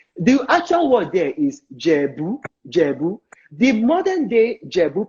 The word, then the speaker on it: Ijebu: The Ijebu people don't call themselves Ijebu. They call themselves Jebu. The I is silent. It is that Jebus, Jebu.